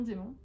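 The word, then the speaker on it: dæmon: Donc c'est ce qu'ils appellent eux un démon, ça s'écrit D-A avec le E, enfin avec le A dans le E, mais ça se dit démon.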